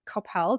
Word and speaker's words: Coppell: And so when you look at her clinic's reels, which is Resiliency Brain Health in Coppell, did I say it right? perfect. Yes, Coppell, Texas.